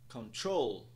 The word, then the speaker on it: control: temos a palavra control temos um apóstrofe logo após a segunda sílaba o que indica que a segunda sílaba será mais alongada e pronunciada em um tom mais alto também pronúncia da palavra é então control control control por fim temos a